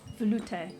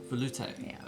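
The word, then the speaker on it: velouté: this one how but how do you pronounce it Volute Volute okay and say it with a sexy French accent you guys help me out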